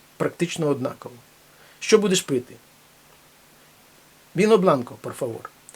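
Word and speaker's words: vino blanco: однаково що будеш пити бінобланко порфавор бінобланко пишеться віно але читається біно бінобланко біле вино будь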